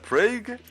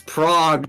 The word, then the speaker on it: Prague: end of month in pra if uh anyone bro it's Prague not PR I I I don't